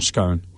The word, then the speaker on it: scone: Scone or scone? Scone. Cuz I'm in Kiwi. Yeah, scone. So, it's got an e on the end.